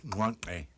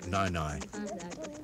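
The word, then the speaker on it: Nyae Nyae: Juntwasi call their vast land Nwankwe, but they are tolerant when we pronounce it Nainai.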